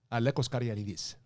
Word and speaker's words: Alekos Caragiannides: When you introduce yourself, how do you say your name in actual Greek? Alekos Caragiannides.